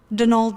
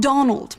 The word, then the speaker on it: Donal: That's the man you met at the door, Donald Delaney. Not Donald, mind you. There's no D at the end, so it's pronounced Donal.